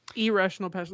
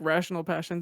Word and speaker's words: Irrational Passions: It's irrational passion, like IRRA. Like See, ERRA. No, it's like I just want to emphasize the I because the way Ben said it right now, to me, it sounded like rational passions, and I was like,